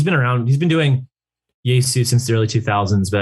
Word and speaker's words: Yesu: Yesu. Okay. Yeah, it's Jesus without the last S.